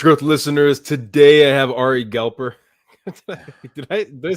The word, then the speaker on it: Ari Galper: Today I have Ari Galper.